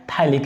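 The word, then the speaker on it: phthalic: यहाँ पर जो pH होता है वो साइलेंट होता है, थैलिक एसिड।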